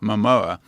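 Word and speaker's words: Momoa: Uh and so what they and then they independently they can assess masculinity like like Jason, how do you pronounce his name? MOA. Mamoa.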